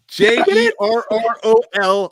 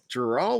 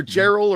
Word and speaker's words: Jerrol: I thought it was Gerald, but when you say how it's spelled, it's spelled with a J, right? Jerrol, I believe.